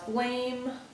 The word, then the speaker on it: blame: So let's say the next person draws blame. So they're going to write blame. Yes, that ends with a silent E.